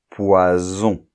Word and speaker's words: poison: S entre deux voyelles donc de s entre deux voyelles ça va être le S sourd de poisson hein poisson et un S entre deux voyelles un seul s là ça va se prononcer un S sonore poison qui est la chose